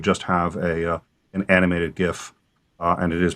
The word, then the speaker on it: GIF: trick i could just have a an animated gif uh and it is pronounced gif anyone who says it's pronounced jiff is obviously biased this could easily be animated